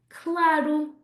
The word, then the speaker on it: claro: They might say claro, claro, of course. Again, that oo sound at the end.